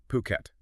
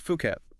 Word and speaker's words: Phuket: And just to be clear up front, it's pronounced Phuket, okay? Not Fuket.